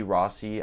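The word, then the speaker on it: Rossy: there's rose like rossi r-o-s-s-y it's like rosie rossi i think it's pronounced rossi but there's also sk ross he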